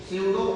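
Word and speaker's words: pseudo: इसको क्या कहेंगे हम, स्यूडो सॉलिड, इसमें पी जो होता है वो साइलेंट होता है, तो यहाँ पे हम स्यूडो सॉलिड कहते हैं।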